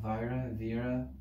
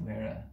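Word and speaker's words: Weaire: know their first names, Dennis Vira, I think that's how you pronounce his name, Vira, Wera, that's it, Wera, the Wera-Phelan, it's the Wera-Phelan structure.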